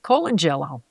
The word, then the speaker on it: Colangelo: So I called my friend and I said, how would you say this guy's name? She said, Colangelo.